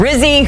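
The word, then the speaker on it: Rizzi: he said quote I my vote for head coach rhymes with fizzy of course JJ he is referring to Darren Rizzy who is the interim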